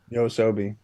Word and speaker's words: Yoasobi: It took me so long to actually figure out how to pronounce this, but thank you people for all the comments. Yosobi.